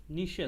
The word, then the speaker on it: niches: Sealed up niches নিশেস in the walls were also sailed up recovered. নিশে নিশেস, এটা নিশে উচ্চারণটা।